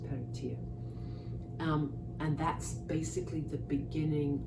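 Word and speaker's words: Peredur: Peratir, who of course, it's spelt Peratur, it's pronounced Peratir.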